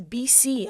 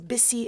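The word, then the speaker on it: Bisi: say my name is bc i'm like no my name is bissi it's not b and c it's b-i-s-i and it gets to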